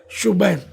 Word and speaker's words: شبیر: ہے نہیں، حسن، اور شبیر شبیر نہیں بلکہ اصل تلفظ ہے شبیر۔ تو یہ ہو سکتا